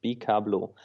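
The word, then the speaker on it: Bikablo: And if you take the first syllables of those words and put them together, it's bablau.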